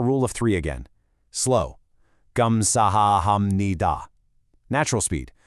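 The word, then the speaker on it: 감사합니다: "Gamsahamnida". Natural speed. "Gamsamnida".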